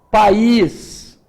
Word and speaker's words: país: conheci um país então há uma diferença na pronúncia vejam que aqui é pais e a outra é país vejam que neste caso aqui eu tenho um I intenso a tonicidade da palavra tá no i eu falei a uma